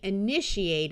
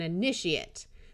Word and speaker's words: initiate: And a person who is beginning something is an initiate. So the verb gets the long A sound, and the noun form of the same word gets the schwa.